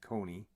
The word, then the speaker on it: cune: Each embryo can and does divide into 6 and to 9 individual cune, pronounced coney, siblings.